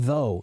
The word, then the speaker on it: though: But we pronounce it TH like though. There's no, the OUGH is silent, right?